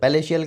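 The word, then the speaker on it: palatial: उकसाना ठीक है नेक्स्ट देखते हैं 934 पैलेशियल पलेशियल का मतलब हो गया आलीशान पर इसको है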